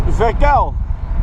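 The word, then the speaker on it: Verkuijl: pronounce my last name it's verel v r k u i j l verel Alex breakless who's your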